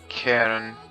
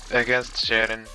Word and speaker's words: Charon: My opponent is suggesting Charon versus Triton, but I've tried that, and as most gods against Charon or Charon, Triton just gets demolished. That's the correct way to say it.